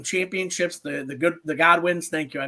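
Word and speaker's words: Godwinns: Bruce pritchard's brother uh so they defeated the Goodwins for the vacated WWF tag team championships the The Good the godwins thank you I mispronounced that formerly slasher and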